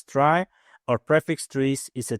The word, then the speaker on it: trie: A try pronounced as try or prefix trees is a tree data structure used to efficiently store entry retrieve keys in a data set of strings.